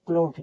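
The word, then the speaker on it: cloth: में है मैथ पढ़ेंगे सी एल ओ टी एच क्लॉथ देखिए अंत में जब टी एच रहता है तब भी इसको ठ पढ़ते हैं एच इ एल टी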